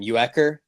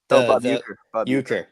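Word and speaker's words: Uecker: Ucker. Uker.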